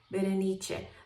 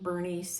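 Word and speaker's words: Berenice: is uh V or I don't know if po would use the Italian pronunciation biche that is my middle name and also I don't like the English pronunciation Bernice it just makes me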